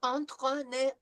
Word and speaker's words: entraîner: This is en through the nose.